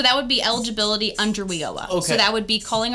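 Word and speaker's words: WIOA: We call it WEOA.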